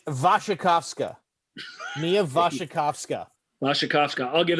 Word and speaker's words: Wasikowska: Brimstone was supposed to star Mia Wasawaga, the Australian chick.